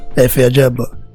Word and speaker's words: Efe Ajagba: Efe Ajagba.